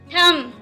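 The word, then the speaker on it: thumb: हैं नेक्स्ट है अंगूठा थम ए टाइम कि इस वर्ष में बीच साइलेंट है है नेक्स्ट बटन नान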